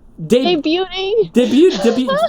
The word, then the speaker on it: debuting: Debuting. The T is silent. Debuting. Well, then why does the T in there? It's probably French. It's probably French.